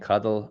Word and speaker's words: cuddle: Coddle has a long O and cuddle a short O.